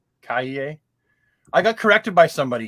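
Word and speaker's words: Calle: say that I think her last name is pronounced Kaye. Kaye.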